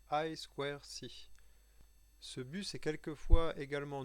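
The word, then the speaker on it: I²C: i de ses skis se prononce en anglais aïe square si ce but c'est quelquefois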